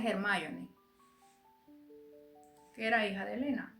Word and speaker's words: Hermione: Así se escribe, así como la de como la de Harry Potter. Para mí se pronuncia Hermoni, que era hija de Elena.